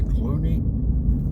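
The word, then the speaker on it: Kluane: big lake it's um the name of the lake is spelled KLU n e I guess it's Clooney uh KL KLU a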